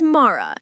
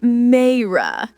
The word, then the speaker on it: Mara: Hey, George, it's Mara, not Mayra.